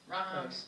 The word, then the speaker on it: Rokosz: Do you remember how to pronounce? Laura? Laura Rokosz. Rokosz.